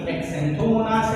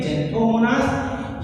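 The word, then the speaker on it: Xanthomonas: तो ये क्या है, ज़ैंथोमोनास है, ना कि एक्सैंथोमोनास है। तो एक्स है तो इसका मतलब एक्स नहीं, इसे पढ़ेंगे ज़ैंथोमोनास।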